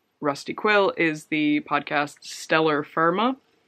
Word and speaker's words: Stellar Firma: Also from Rusty Quill is the podcast Stellar Firma, which sounds weird in my accent because it rhymes if you're British.